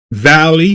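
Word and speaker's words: Vali: Valley. V A L I. You know, down in the valley is spelled V A L I is the Avenger.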